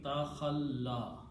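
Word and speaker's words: تخلّت: So this will become takhalla, wa. And again, waw and fatha are again a mismatch. So the word pronounces takhalla.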